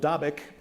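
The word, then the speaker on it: Dabiq: at either a town in northern Syria called davic which I'm told is the correct pronunciation topic or at the amuck valley in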